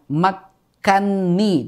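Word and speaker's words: مكني: enggak salah ya Nah sebenarnya itu lafaznya adalah makanani kan Na dan ni kan dua huruf yang sama mutamatilain sama-sama berharakat berarti Kabir Nah di sini dibaca makkanni itu pengecualian kalau yang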